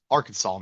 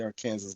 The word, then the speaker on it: Arkansas: Nebo is in Arkansas Arkansas man say it right right they get pissed off if you say our Kansas ladies hear about the